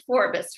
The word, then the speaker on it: Forbes: It is Forbes, right? Correct, 2 syllables.